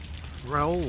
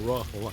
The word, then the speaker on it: Rahul: Raul was telling me or Rahul I should say John Dumas couldn't pronounce Rahul so he always called him Raul like the Spanish Raul.